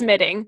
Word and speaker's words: midding: I think it's midding. It's midding. It's spelled Midding, if anyone wanted to know.